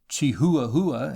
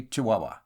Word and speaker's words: Chihuahua: wilderness is broken by chihuahua of which cunningham graham used to write fondly pronounced chihuahua in london but locally chihuahua i broke my journey